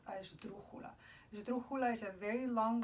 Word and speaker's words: esdrújula: But because it becomes such a long word, it actually becomes what's called a esdrújula. Esdrújula is a very long word that has the accent in the third syllable back, so it will always have an accent there.